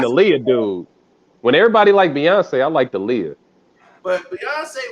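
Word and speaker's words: Beyoncé: Everybody can see it as Beyonce. Ain't nobody was saying that back then. They couldn't pronounce that damn name. They was calling her Bayonne.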